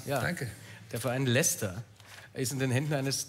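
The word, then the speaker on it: Leicester: ist ja in den Händen einast das richtig ausgesprochen danke der Verein Lester ist in den Händen eines thailändischen Millionärs wie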